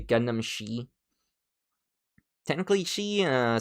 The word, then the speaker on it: Xi: It's supposed to say Gundam Shei. Technically, she uh some people pronounce it or whatever. I don't know. I pronounce it she because it's spelled XI.